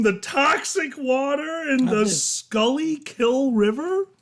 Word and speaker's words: Schuylkill: it's pronounced in Pennsylvania pronounced it properly in Dutch that's the funny part you're killing yes the original Dutch word you pronounced it properly but the pennsylvanians pronounced at Schuylkill would you like to